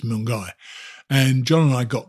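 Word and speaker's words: Milngavie: it milner i think they call it milgai it's spelled m-i-l-n-g-a-v-i which in my parlance that's going to be moon garvey but apparently it's mung guy and john and i got there we've both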